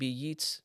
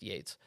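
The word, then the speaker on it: Yeats: how Society works as WB yeets I think it's pronounced Yates said in the second coming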